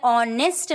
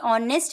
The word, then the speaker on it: honest: You know very well honest man, HONEST, honest man, ईमानदार आदमी. So honest, this is silent. H is silent और जब H silent